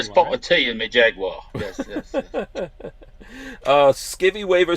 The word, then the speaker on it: Jaguar: At least you say it properly, a Jaguar.